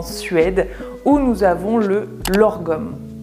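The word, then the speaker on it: lagom: Maintenant, nous allons remonter directement en Suède où nous avons le lorgom. Ça ne se prononce pas du tout comme ça s'écrit.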